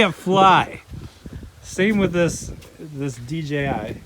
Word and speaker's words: DJI: So we got the old DJI Mavic here. I need to pick myself one of these up. We just call it Jai.